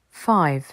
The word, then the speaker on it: five: en français four five five le i se prononce i parce qu'il y a une consonne suivie d'un E on ne dit pas F mais five six six le i court